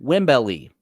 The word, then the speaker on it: Wembley: Hulk Hogan taught me that it is pronounced Wembley.